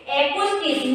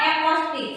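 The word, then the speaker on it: acoustics: एक्यूस्टिक, नॉट एक्रोस्टिक।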